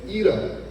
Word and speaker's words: either: when she got there she was saying eater eater and the people were confused what do you want to buy either until somebody pronounced it the right way like this either for the past two